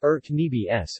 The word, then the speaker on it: urnebes: her needs serbian cyrillic our needs pronounced earth' me BS meaning disorder mass is a type of salad